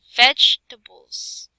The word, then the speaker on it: vegetable: The E after G is unpronounced. Okay, so the E after G, vegetables.